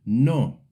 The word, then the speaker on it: no: The Spanish word no. English speakers sometimes say it like the English no with a dip thong. In Spanish it's short and clear.